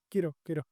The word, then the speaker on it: Kiro: Kiro. Que lo digo mal en el vídeo porque no sé cómo se pronunciaba, pero ya busqué y se pronuncia como hero, como héroe, Ah, pues vale.